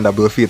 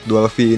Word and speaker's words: Dual V: Bacanya Dual V bukan Double V ternyata guys.